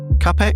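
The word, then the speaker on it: Čapek: 1920 play by the Czech writer uh Carol Capeek or is it Chapek? How do you pronounce Chapek?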